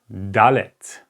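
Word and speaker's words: דלת: the three first letters it's alef try to pronounce it with me alef then bet Gamel okay the next letter is called dalet dalit dalit so that's the dalit okay it's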